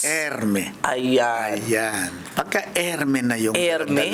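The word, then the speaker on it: Hermès: Er Hermes Erme. Ayan ayan pagkaerme na yung mo na nak eh. Wala ng s eh. Eh hindi ano erme lang e. Hindi. Yun ang pronounce kasi dahil yun ay French.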